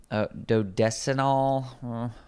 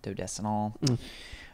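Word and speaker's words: dodecenal: chemical in cilantro called dodestinol or but not ol it doesn't end in ol it's an Al okay so I don't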